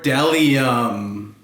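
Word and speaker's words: bdellium: they are running amok B is for deli um what is that we doubt anyone knows what Dell iam is but it's the only word dumb enough to begin with a silent B Wow let me tell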